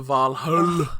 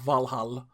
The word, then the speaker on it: Valhalla: taking you up to valhalla as they say not valhalla i don't know why they picked vol uh it's an icelandic pronunciation ah okay okay that